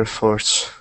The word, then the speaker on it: efforts: be paid for their efforts efforts yes efforts when we say this word we put the stress at the beginning quite squarely at the